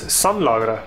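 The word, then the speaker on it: Sanladerer: And the way I pronounce it is Sonlagre.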